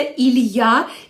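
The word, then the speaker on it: il y a: передаватися через три слови Іль і А яке читається Ілья і ця фраза ставиться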